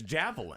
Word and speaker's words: Javelin: I would say since it's spelled like javelin and nobody goes and does a pronouncer for it, Yeah, then right? it's javelin.